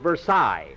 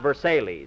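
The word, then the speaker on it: Versailles: and the versales Mary that's that's pronounced Versa not versales I'm quoting Phil so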